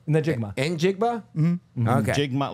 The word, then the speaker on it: Njigba: It's Najigba. Phonetically, how much is it? Do it phonetically. Njigba.